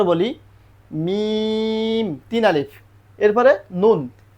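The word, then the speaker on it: ن: মিম তিন আলিফ এরপরে নুন নুন তিন আলিফ নুন তারপরে কি হবে ওয়াও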